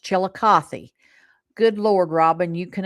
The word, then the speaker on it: Chillicothe: It is pronounced Chillicothe.